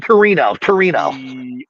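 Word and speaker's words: Tino: Torino.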